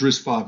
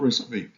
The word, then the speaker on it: RISC-V: get started so risk 5 history so it's pronounced risk 5 not risk v um it's an open standard instruction set started